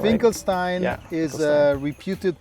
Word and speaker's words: Finkelstein: Finkelstein Yeah, is Finkelstein.